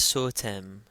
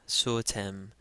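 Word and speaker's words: ⲥⲱⲧⲙ: Okay, remember that the sema here is always pronounced as S. It's followed by a long O, and then tav, a, and then me. So this is sotem, sotem.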